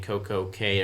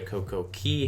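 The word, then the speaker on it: CocoCay: We went to 2 ports in Florida, Port Canaveral, Miami, Nassau, and then Coco Cay or Coco Key, however you want to pronounce it.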